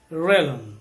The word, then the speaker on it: realm: that is realm okay we say this as realm so the l has got a mild or a soft pronunciation in the last world